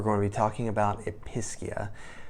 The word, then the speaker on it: Episcia: to be talking about episcia I guess it could be pronounced epia but that doesn't sound as pleasant so we're going to go with episcia this is a really